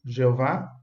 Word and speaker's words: Jeová: Assim disse Jesus, para que nós possamos amar a Jehová Elohinová em hebraico, Jeová é a pronúncia em português.